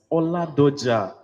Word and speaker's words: Oladoja: Oladoja. Like it's Ola and Doja together, right?